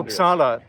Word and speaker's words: Uppsala: Uh did I Did I pronounce the uh pronounce it for me? Uh Uppsala, that's what we say.